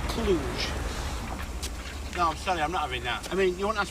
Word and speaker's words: Cluj: further I we're left clutch ours a girl actually pronounced Cluj I mean you want